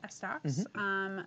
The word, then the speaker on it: S-Docs: LCRC Meltdown, which is an S-Docs race. That's how they say it, S-Docs.